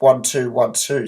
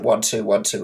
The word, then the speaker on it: 1212: channel, but it's pronounced 1212, similar to bits in a computer, which is the smallest form of data, which are zeros and ones. So you pronounce it 1212 instead.